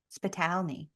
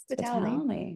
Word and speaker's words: Spitalny: It sounds exactly how it's spelled, but I think people they don't want to say like spit. And I'm like, oh, Spitalny. Spitalny.